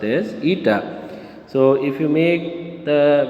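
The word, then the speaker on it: η: eta that is coefficient of viscosity which is pronounced as eta so if you make the viscous force here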